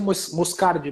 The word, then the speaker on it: Moscardi: Pronuncia Moscardi mesmo.